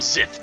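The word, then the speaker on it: Xth: I'm the director of the Zith Squad. Oh, so it's pronounced with a Z, huh? Weird. Now you know the whole truth. Yes, this is the headquarters of the Zith Squad.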